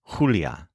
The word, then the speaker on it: Julia: another big difference is the letter J which in Spanish is always pronounced as H like the letter H in English so the name Julia in Spanish is pronounced as Julia meanwhile as you'll see